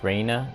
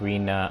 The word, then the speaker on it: Reina: Okay, her name is Reina, not supposed to be pronounced as Rena or Rena. It's Reina, at least in English, that's how you pronounce it.